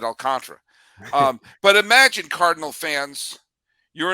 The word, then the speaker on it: Alcantara: You mispronounced Alcantara. I'll mispronounce Galen. We're even. All right, we're good. Is it not Alcantara? Is it Alcantara? It's Alcantara.